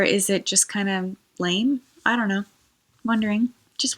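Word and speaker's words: Islay: Haven it is a la whiskey from the Isle of LA or ela I think it's actually ela I'm not sure my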